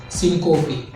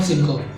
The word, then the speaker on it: syncope: It is SYNCOP, syncope. And it's not syncope because most of them pronounce it wrong.